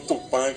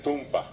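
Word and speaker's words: Tupã: Y los bolivianos le ponen el acento en el medio. Y es un acento llano, burubisha. Por ejemplo, Tupán, que es el nombre de Dios, ellos le dicen Tumpa.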